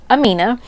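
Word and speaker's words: Amenh: It was A-M-E-N-H, and so that's how we would say it, but it is pronounced Amina.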